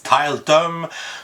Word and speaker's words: Tiletum: que je pense de tillétom mais après réflexion je pense que le prononcer plus à l'anglaise Talton parce que c'est un jeu de mots avec tal qui les tuiles qu'on utilise dans le jeu bref title comme vous